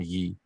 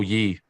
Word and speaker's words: Ye: I think his name is Yee now. He legally changed his name to Yee, so you probably should call him Yee. Talking about Kanye? No, Yee.